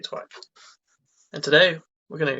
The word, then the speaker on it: Twine: Twine, like Twine, the okay, string. Twine.